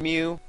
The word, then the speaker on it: Mew: all must hell and his name begins with me and rhymes with two except for not at all but there's actually two Pokemon that I got to go catch and um one's Mew and the other's meww